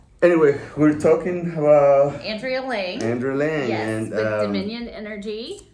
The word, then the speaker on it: Lange: How do you like to pronounce it? Lange, Lange.